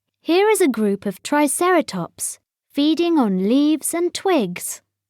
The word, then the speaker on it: triceratops: means three horned face how do you say it triceratops say try sarah tops in the swamp a